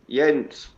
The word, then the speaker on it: Jens: Jens, because it's Jens, spelled that's with what I yeah, thought. Okay. yeah, it's spelled with a J, but it's pronounced with like a Y sort of thing.